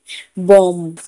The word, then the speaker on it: bomb: बॉम्ब, BOMB, बॉम्ब। एम के बाद बी है तो यहाँ पर भी साइलेंट है।